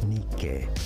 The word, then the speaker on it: Nike: Don't the commercials for Nike say Nike? They do, yeah. Yeah. Well, Nike, I mean, that is that it's founded, or its roots are from Greek, right? The Greek pronunciation is Nike.